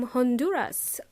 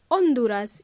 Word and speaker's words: Honduras: say hello to Edwin from Hond huras or Honduras in Spanish because in English we pronounce the letter H thank you for